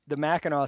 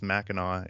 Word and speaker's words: Mackinac: You got the Mackinac Center pronunciation correct, which is pretty rare. Well, thank you. I'm actually I'm a pretty big Johnny Cash fan, and I think he says Mackinac in one of his songs.